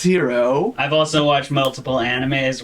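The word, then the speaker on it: Hiro: sure yeah it's it's hero I've also watched multiple animes where it's spelled that way and it is pronounced hero yeah and then hero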